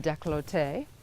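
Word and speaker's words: décolleté: throat down into the I always pronounce this wrong I believe it's pronounced decollete and whatever is left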